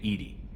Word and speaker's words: EDI: why are you named ed ed is the phonetic pronunciation of Ed I that is an acronym for enhanced defense intelligence are you getting along with Joker mr.